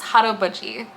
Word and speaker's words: haraboji: a quick note here as someone who is Korean um it is pronounced hot Buie that is my hot